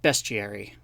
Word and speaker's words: bestiary: stuff in Harry Potter, but it is actually pronounced bestiary.